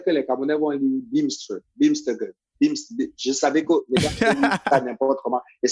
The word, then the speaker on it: Bimstr: Ça fait américain quand même, non? Bimster. Oui, Bimster, dans la prononciation.